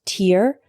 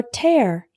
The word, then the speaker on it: tear: The word tear can be pronounced tear or tear. The word tear is a noun referring to the drops of liquid that come out of your eyes when you cry.